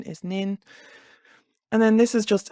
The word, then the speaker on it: Nin: So N is nin.